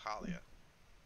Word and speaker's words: Halia: Halia. If you do what her name is. I am saying it wrong. It's Halia.